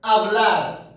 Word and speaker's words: hablar: عندنا هنايا verbo que termina con AR مثلا verbo hablar. Verbo hablar. Verbo hablar. كنقولوا verbo hablar ماشي verbo hablar. H se escribe pero no se pronuncia.